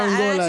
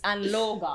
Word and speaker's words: Anloga: Where they tell Angola, I was like, no, it's not Is it Angola. Man. It's Anloga. Anloga Junction album.